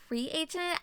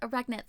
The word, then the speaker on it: reagent: Uh, warning, I pronounce reagent as renet throughout this entire video.